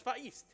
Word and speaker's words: Vahist: Also, I have Vahist 105 with $20 that says, note for commentator, it's pronounced Vahist without the H. Oh. Like the word histogram. Maybe I should have read that beforehand. So it's Vahist.